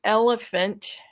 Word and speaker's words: elephant: So if I'm using the word elephant, the the first phoneme is voiced, the ul is voiced, the is voiced, but the next phoneme, which is spelled PH, but it's actually pronounced as an F, unvoiced.